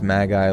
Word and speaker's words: magi: It's pronounced magi like ma Oh, mad. Oh, magi. Sorry. Yeah, like magic like ma.